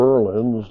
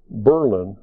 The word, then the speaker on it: Berlin: And of all the Berlins, this one is pronounced Berlin rather than Berlin.